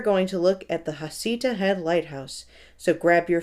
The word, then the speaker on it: Heceta: I have read that it is pronounced both as Heceta and Heceta, but I believe that Heceta is the preferred pronunciation.